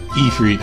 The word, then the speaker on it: Ifrit: Ifrit, okay, that's how you pronounce it.